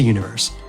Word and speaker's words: univer.se: Head to Universe. That's univer.se, but the dot is silent.